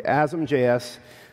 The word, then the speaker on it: asm.js: Well, the answer is mcripton to compile JavaScript from C++ or C and Azam.js something and that's how you pronounce it by the way asamjs for targeting a version